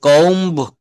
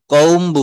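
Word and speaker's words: comb: হচ্ছে বোমা তারপর বলছে সি ও এমবি এটা কম কম্বু বলা যাবে না এই বিটাকে সাইলেন্ট রাখতে হবে কম কম কম মানে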